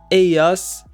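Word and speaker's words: ellos: informal situations AOS and AOS mean they AOS AAS and again in most accents the double l sound is pronounced like the y in the word yellow AOS is used to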